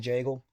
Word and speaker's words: Jagel: And my nickname is the Bagel because it rhymes with my last name Jagel.